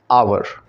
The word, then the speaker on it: hour: आवर, HOUR। इसे हम हावर तो नहीं कहते ना, एच इसमें साइलेंट होता है। आर कहो या फिर आवर कहो, वो तो ब्रिटिश और अमेरिकन का डिफरेंस हो जाता है।